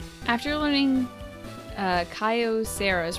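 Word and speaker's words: Kyocera: After learning, uh, Kaio Sera is pronounced like that. Most people say, "Oh, pron Oh, wait. It's pronounced like how people say Kyoto." Like Kiosera. Okay.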